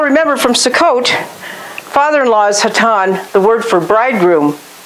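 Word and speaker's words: חתן: And that's the word hatan. And we studied this back in around Sukkot, I think. Father-in-law, hatan. Here it's spelled a het, a tet, and a final noon.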